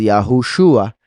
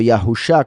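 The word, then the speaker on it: יהושע: caso nos confirma que la pronunciación es Yahushua y no Yahusha, como dicen algunos. Vean que la borro y no cambió nada el nombre, porque ambas formas de escribirlo resultan en la misma pronunciación, Yahushua.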